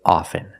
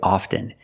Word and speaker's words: often: words soften and often with both words I don't pronounce a t i say soften and I say often but sometimes you'll hear people say often and it's not wrong it's okay people say both often and often I prefer often now